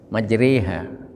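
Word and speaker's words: مجريها: Tulisannya majroha, ya, tapi bacanya majre, re, bukan ri, bukan ru, bukan, tapi re, antara kasroh dengan doma, re, majreha.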